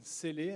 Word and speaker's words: Selle: Yeah, my name is Selle. Actually, there should be an accent on the E, but it's okay.